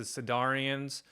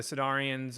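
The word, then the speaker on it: Sydarin: start off with is a sedarian um I guess that's how you say it properly s yd a r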